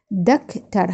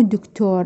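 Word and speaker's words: doctor: على مود تتعلمون عليها دكتر هاي مو دكتور هذ الاو ما تلفظ او هنان اه دكتر دكتر معناها طبيب نجي هنان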